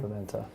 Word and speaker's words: Pimienta: Cordell Pimienta, is that how you pronounce his name? Pimenta.